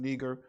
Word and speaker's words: Niger: was called neger and some people say that's not how you pronounce it it's pronounced neger well how do you